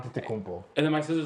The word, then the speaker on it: Antetokounmpo: And I'm just like, it's simple. It's Antetokounmpo. Yeah. No, Like, it's Atento Kumpo. Antetokounmpo. Okay, whatever.